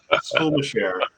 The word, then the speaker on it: Skulmasher: It's pronounced Skulmasher, and yes, that would be my father's side of the family.